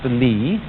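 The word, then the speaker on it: 理: Do you remember this word, which is pronounced Li, and which had as its original meaning the markings in jade, the fiber in muscle, or the grain in wood?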